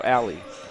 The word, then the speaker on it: Ali: So Ali, I've been pronouncing his name wrong. It's actually Eric. Eric Ali? No, Ali. Ali, yep.